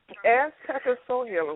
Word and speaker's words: Azteca Soul Healer: Azteca Soul Healer, what does that mean?